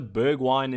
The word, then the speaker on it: Bergwijn: Bergwijn, you could also look at him. That's also Bergwijn if you are used to that pronunciation as a really differential